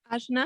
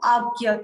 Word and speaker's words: Ajna: Ajna. Ajna. Ajna. Okay, chakra. Okay, let's pronounce it correctly. It's called Agya chakra.